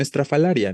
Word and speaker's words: estrafalaria: Y lo mismo sucede con estrafalaria, ¿no? Estrafalaria, ¿no? Aquí no es ria, ¿no? Es grave.